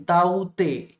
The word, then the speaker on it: Tauktae: ये नाम है ताउते, दिस इज द प्रोनंसिएशन, ताउते के इज द साइलेंट, ठीक है।